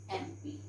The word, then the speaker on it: MP: is starting with M, but what is the pronunciation? It is MP. Okay, so here we write an MP, because children, though it is starting with consonant letter, but the sound we are having here is vowel sound, so we put an MP.